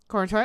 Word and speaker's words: Corenswet: Cornsweat. Corenswet. Corenswet, I said it right.